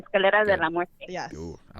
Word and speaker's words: Escalera de la Muerte: Spanish, so I say it properly. Escalera de la Muerte.